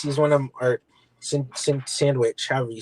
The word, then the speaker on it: Sienkiewicz: I mean, seeing as he's one of them, or Sandwich, however you say it. How do you say it, Sylvester? Sandwich. He said say it like sandwich.